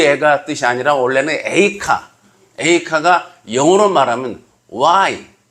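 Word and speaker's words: איכה: 참고로 예레미야 애가는 그 애가 뜻이 아니라 원래는 에이카 에이카가 영어로 말하면 why how 어떻게 어찌하여 왜 무엇 때문에 이런 뜻이에 예레미야 에이카 에가이긴 합니다.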